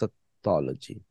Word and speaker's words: satology: And the way you pronounce satology is satology. Satology. If you're listening in Hindi, satology. In English, you just say satology. And because you are pronouncing O and Lo together. Sotology. But it is ta, not ta. It has no connection with satta.